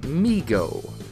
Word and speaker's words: MeeGo: this point to create migo every time i say that it sounds like the word we mixed with amigo migo is going to